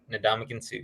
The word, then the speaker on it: Ndamukong Suh: Ndamukong Suh, yeah.